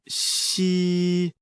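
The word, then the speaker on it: 嘻: dredge the kidneys Meridian the pronunciation of she like the English word she but with the tongue touching slightly the bottom teeth the pronunciation is assisted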